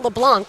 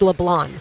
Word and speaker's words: LeBlanc: It's not LeBlanc like you would expect it to be. It's LeBlanc. Okay, so we didn't miss that in the hunt.